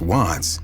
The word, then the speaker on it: Wvttz: The name WTTZ, pronounced Watts, paid homage to an